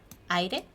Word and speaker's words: aire: Here you only have to tap with your tongue, like the roof of your mouth, but very subtle, like aire, aire, aire.